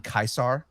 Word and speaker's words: Caesar: I I could not They kept saying Kaisar in the game. That That's how you say it. Correct. Latin. That That is exactly how you're supposed to say it.